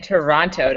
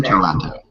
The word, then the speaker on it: Toronto: from Toronto by from Toronto yeah of course you're not supposed to pronounce the second tee whatever I'm from Philly